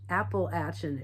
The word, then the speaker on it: Appalachia: you know, the Ozarks or Appalachia, uh, Appalach Appalachin is what I found out that's how you pronounce it, which I just thought was funny.